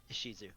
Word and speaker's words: Ishizu: How do you say your name? Ishizu. Ishizu? Yeah.